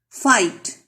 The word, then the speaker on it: fight: Fight. G and H are silent.